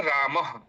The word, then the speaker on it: रामः: इनका उच्चारण अस उनका उच्चारण जो है ह के समान हमें करना चाहिए। ह जैसे रामः बालक इस तरीके से ह के समान इनका उच्चारण होता है।